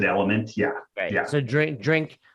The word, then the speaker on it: LMNT: and t and t we pronounce it element yeah yeah so drink